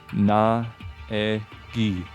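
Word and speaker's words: Naegi: You spell it exactly like it sounds. Na-e-gi.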